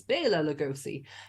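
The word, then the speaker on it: Bela Lugosi: as well or blf sorry I said I would pronounce his name right it's Bela lagosi um he he was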